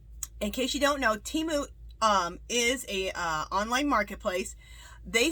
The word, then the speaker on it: Temu: Thank you, Temu. And that's something I want to say. How you pronounce it.